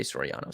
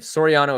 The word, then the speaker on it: Sorano: a couple times um I think I said his name wrong it's Jose Sorano so Sorano if you're watching the